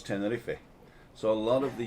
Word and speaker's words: Tenerife: english but in ten in spain we pronounce all the letters so it's tenerife so a lot of